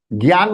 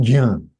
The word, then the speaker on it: ज्ञान: ग सुनाई देगा, लेकिन ग नहीं है, ज है. लेकिन because of j attached with अनुनासिका, the sound emitted from the mouth is slightly g.